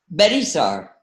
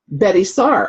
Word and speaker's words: Betye Saar: Gloria Orenstein, Arlene Raven, Betye Saar. Did I say that right? Okay, Betye Saar? Betty Saar. Betty Saar, okay, simpler than it's spelled, okay.